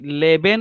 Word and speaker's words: lieben: लिखते समय तो आप बराबर लिखोगे, because once you will write it LEBEN, बट इधर कैसा है LIEBEN. सो लीबेन, लीबेन means to love and leben means to live, right?